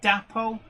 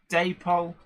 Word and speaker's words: Dapol: Harry Cedric is correcting my pronunciation. Dapole, yes. Daypole, no. Well, I think Daypole is correct, and the reason my reasoning for this is because I actually know why Daypol is called that.